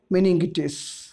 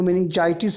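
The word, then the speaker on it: meningitis: तो इसका सही जवाब है बच्चों मेनिंगिटिस। इसको मेनिंजाइटिस भी पढ़ते हैं, आप इसको ऐसे भी प्रोनाउंस कर सकते हैं, ठीक है।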